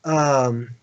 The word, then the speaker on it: Ahura: Acura, which is a cowboy way of saying Ahura, which is how it's pronounced, and then Mazda, which is another car company.